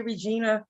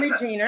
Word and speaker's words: Regina: Everybody always say Regina. But I'm Regina.